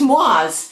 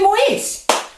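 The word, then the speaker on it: Moyse: Because I know a ton of people that were born and raised in France and it's pronounced Mo, but we say Moise.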